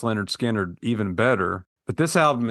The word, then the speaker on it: Lynyrd Skynyrd: episode I think I like the first album pronounced Leonard skinnard even better but this album is very strong